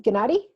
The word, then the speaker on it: Gniady: to pronounce her name, Gniady. Gniady, and Like she's lady gonna, with GN, you know, lady, Lady Gniady, so that way.